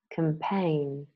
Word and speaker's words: campaign: the Oxford learners dictionaries silent G words nah known Nash benign malign sign design a line foreigner Dame campaign Champaign Cologne Laura Lee